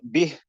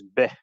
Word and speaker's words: بِهِ: So common mistake, you've got bih and al-maghrib. So bih often gets mispronounced as beh. Beh. وَسِرُّوا قَوْلَكُمْ أَوْ اجْهَرُوا بِهِ. That's incorrect. It's supposed to be bih.